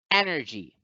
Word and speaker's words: energy: we have energy energy in the word energy you find that the first syllable has the syllable so the accent mark or the stress mark is over the first syllable so the first syllable gets accented so it's energy energy